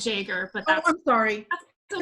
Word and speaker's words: Yeager: We actually pronounce it Jaeger, but that's, I'm sorry.